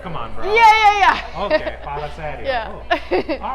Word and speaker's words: fala sério: Fala sério.